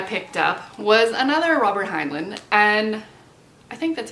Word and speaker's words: Heinlein: And the last book that I picked up was another Robert Heinlein, and I think that's how you say his name.